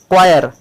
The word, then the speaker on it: choir: क्वायर, CHOIR, यहाँ CH को क पढ़ा जा रहा है।